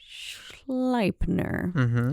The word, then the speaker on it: Sleipnir: Odin, the Norse god, was described as owning an 8-legged horse named Sleipnir. Sleipnir. I'm going to go with Sleipnir because it's E-I, and in German you would pronounce the I, which he rode with a raven perched on each of his shoulders.